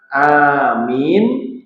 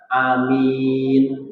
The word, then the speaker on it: aamiin: Nah, untuk mengucap kata amin itu enten dua versi. Ya. Yang satu dengan pengucapan amin, yang kedua amin, itu juga boleh.